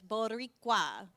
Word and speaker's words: Boricua: So in case you're wondering again how to say it, it's Boricua.